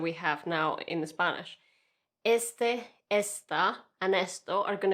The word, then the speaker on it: este: I'm going to say este jardín, este jardín. The pronunciation actually is quite important. Este, esta. So at the beginning of the word that we have that emphasis.